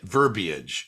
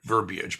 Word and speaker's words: verbiage: And it's had an I in it. Verbiage is the word, verbiage, but they say verbiage because they mispronounce it.